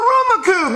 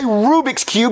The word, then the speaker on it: Rubik's Cube: daddy that's not a Ruma Cube that's not what I wanted yes it is Jeffy that's a Rubik's Cube you're just saying it wrong I never said I